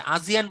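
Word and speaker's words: ASEAN: আচ্ছা, আজিয়ান বলতে কি বুঝে একজন জিজ্ঞেস করেছেন, ভাই এটার উচ্চারণ আজিয়ান হলেও বানানটা হচ্ছে আসিয়ান। আসিয়ানের নাম শুনেছেন? Association of south east এশিয়ান Nations, ওইটাকে আমরা আজিয়ান বলছি, উচ্চারণটা আজিয়ানই হওয়া উচিত।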